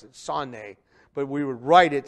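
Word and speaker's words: שָׂנֵא: we would say sane that's how we would pronounce it sanne but we would write it sane s-a-n-e the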